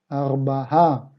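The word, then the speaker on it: ארבעה: Nos vamos a la tabla y vemos que el cuatro para masculino se dice arbaá. Arbahá con esa a extendida al final.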